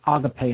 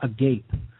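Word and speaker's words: ἀγάπη: Pi ADA auto-pay and I wrote it there with an accent an acute accent over the e so you know it is pronounced other pay and not a gate okay um so the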